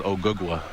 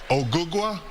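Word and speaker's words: Ogugua: My real name is Ougwa. Ouga.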